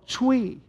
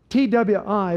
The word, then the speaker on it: Twi: It's called Twi. It's T-W-I, but it's pronounced Twi.